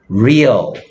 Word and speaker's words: real: 레알? 이런 말 들어봤어요? 레알? 못 들어봤어요? 예. 레알? 진짜야? 이런 말이지. 레알은 스페인식 발음이고, 레알을 영어식 발음으로 하면, real.